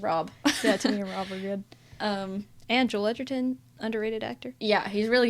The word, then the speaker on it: Edgerton: And Joel Edgerton, underrated actor. Yeah, he's really good in it. He's great. He's great. And Edgerton or Edgerton?